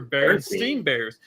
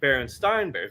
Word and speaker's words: Berenstain Bears: Most people growing up in my age group remember Berenstein Bears. Teachers even pronounced it Berenstein Bears. But yet we're now being told it's Berenstain Bears, which is the most obvious one of them all.